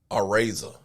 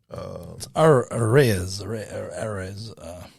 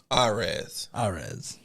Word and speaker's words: Arraez: I've been pronouncing his name wrong. It's Araiza.